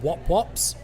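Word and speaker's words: wop-wops: I believe it's pronounced wop wops, but you're right.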